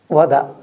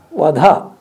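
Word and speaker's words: vada: always speak truth sathiyam wada be careful pronounce it properly don't say sathiyam what ha what ha means you finished so the child was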